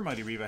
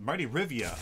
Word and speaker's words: Mighty Rivia: Mighty Riva has indeed um Mighty Rivia I always I always say his name wrong there's an i in there my apologies Marty um as uh there is an eye in there and I always I I always forget let's see what ability